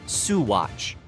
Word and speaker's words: Saguache: From a frozen town to one known for stories of night skies and beings from outer space, this is Saguace, pronounced Suatch, found at the northern edge of San Louis Valley.